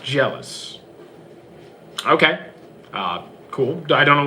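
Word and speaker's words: Gelus: The Shinigami, which name was Geluz, is pronounced jealous.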